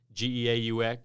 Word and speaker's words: Geaux: you non-caging people yeah g-e-a-u-x spells go yes not to be confused with go right exactly so they